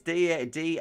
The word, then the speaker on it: Daantje: But it's Daantje. I can't get the tj. Dantage.